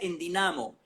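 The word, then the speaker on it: ενδυναμώ: Endunamó todavía se escribe igual en el griego actual y se pronuncia en dinamo.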